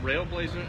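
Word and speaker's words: RAILBLAZA: do they find this it rail Blazer is how you pronounce it where do they find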